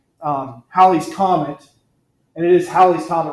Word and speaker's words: Halley's Comet: And it is Halley's Comet. It rhymes with valley. It's not Halley's Comet.